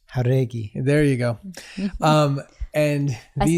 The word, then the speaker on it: Jauregui: on the show, and I'm saying your last name wrong, so, please correct me. It is Jauregi.